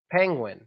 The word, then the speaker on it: penguin: it just paying when only part of it I can see that maybe difficult is the I sound because a lot of people don't have that I sound and they say e instead of if like penguin penguin they